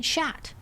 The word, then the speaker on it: chat: Just don't have to pronounce the t. I kept pronouncing the t in chat.